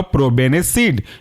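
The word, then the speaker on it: probenecid: है प्रो बेने सिड तोड़ करके लिखेंगे या पढ़ेंगे ऐसे प्रो पी आर ओ प्रो और बेने बी ई एन ई और सिड सीआईडी जुड़ कर के बनेगा प्रोबेनिसिड दूसरा एग्जांपल आपका सल्फी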